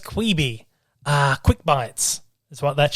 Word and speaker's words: Quibi: But the big one is Quibi, as it's pronounced, Quibi.